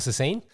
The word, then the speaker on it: Sassine: all right so I'm here with Michael sassine say good day thanks for having me is that the correct pronunciation that's it yeah and what what what